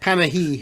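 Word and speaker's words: Panayi: So we're going to go to the year 1985 from Vortex Software and Costa Panai, or however you pronounce it. Panahi.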